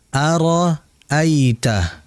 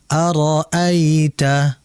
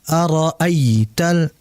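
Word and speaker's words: أَرَأَيْتَ: Sehingga dibaca araita bukan araital ay jangan dihentak tapi dinaikkan dengan aliran yang santai yang rileks.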